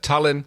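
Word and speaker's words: Talyn: A lovely little gunboat diplomat by the name of Tallinn. Very good. I love how you pronounce it like the capital of Estonia.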